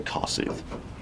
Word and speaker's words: Kossuth: Excuse me, Kossuth. I think you're supposed to say Kossuth. That's how they say it up there.